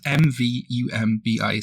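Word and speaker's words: mvumbi: to pronounce, but it's it's spelled m-v-u-m-b-i, so m-vumbi. I'm going to say that's pretty close.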